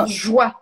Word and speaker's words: luxembourgeois: De Et principalement luxembourgeois, on prononce avec un J, le luxembourgeois luxembourgeois.